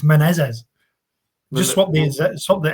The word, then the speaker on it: Menezes: So you could just call him Mano Menezes. Menezes. Menezes. Menezes. There you go. Menezes.